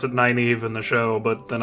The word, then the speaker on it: Nynaeve: I would not be surprised if Lan ends up rescuing Nineveh, her. I think they pronounce it Nynaeve in the show, but then I'm just thinking of Neil Stephenson and Nynaeve nails.